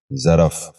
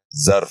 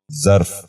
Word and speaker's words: ظرف: غور سے سنیے، ظروف۔ چھٹا لفظ ہے ظرف۔ یہ غلط تلفظ ہے، درست تلفظ ہے ظرف۔ دوبارہ سنیے، ظرف۔ بچوں آپ بھی غور سے سنیے، ظرف۔ ساتواں لفظ ہے